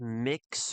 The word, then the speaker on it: Mx: Let me How to pronounce How do you pronounce the title MX? most um pronounced to sound like mix or muk.